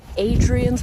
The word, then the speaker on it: Hadrian's: afternoon and welcome to hadrian's wall or adrian's wall if you prefer silent h we are in northern